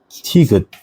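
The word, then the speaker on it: ㅌ: And then there are 티귿.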